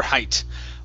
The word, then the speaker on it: height: what's your height yeah you would pronounce the T what's your height or okay how tall